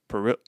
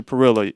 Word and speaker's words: Parrilla: Trillion R's, double L is a Y. But I grew up with my mother. Mhm. My mother doesn't speak Spanish. Okay. She's always pronounced it Parrilla, so that's how we cool.